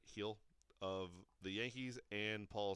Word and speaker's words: Gil: Year Awards went to Luis Gil of or Hill I guess not Gil but heel of the Yankees and